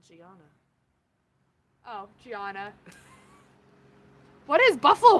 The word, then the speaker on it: Gianna: Gina is her name. No. but I'm pronouncing everyone's name wrong. What happened to Gianna?